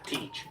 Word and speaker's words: Teach: Teach. Teach. Okay, Teach. It's TJ would be his name, but we call it Teach.